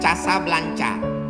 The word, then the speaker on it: Casablanca: Nama negaranya Maroko, ibu kotanya tulisannya Casablanca, cara bacanya Casablanca.